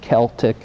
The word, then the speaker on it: Celtic: celtic design belt and the correct pronunciation is celtic it's spelled just like boston celtics but celtic is